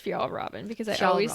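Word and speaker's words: Fjällräven: And it is pronounced Fial Robin because I always say F Raven.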